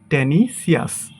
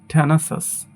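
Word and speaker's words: tenacious: এটাকে আমরা বলি টেনিসিয়াস, বাট এটার সঠিক উচ্চারণ হবে থ্যানাসাস। থ্যানাসাস।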